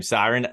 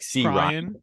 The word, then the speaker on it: Cyran: the worst is um for some reason people see the r before the Y so they say like C Ryan or cry yeah last night I